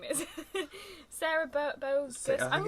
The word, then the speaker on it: Boggess: Well, I thought it was going to be more like Burgess, but not. But I listened to someone say it in an interview because I didn't want to say it wrong, and it's actually like bogus.